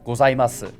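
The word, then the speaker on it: ございます: And then we have gozaimasu, which is nakadaka, so it should start low, go up and stay level, and then drop. If we go here, for me, gozaimasu, right? Except this is silent, so you can see the pitch actually cuts out.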